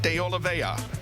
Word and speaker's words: de Oliveira: back in row number 6, Takuma Sato and JP de Oliveira. And that is the way you pronounce it. I know there's an R in there, but we asked and we got the information from the horse's mouth.